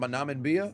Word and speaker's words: Namibia: Namibia. Namibia. That's how it's pronounced. Namibia.